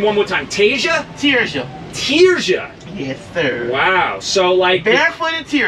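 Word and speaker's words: Tirzha: Tia. What? Say that again. Ta. Can you spell that?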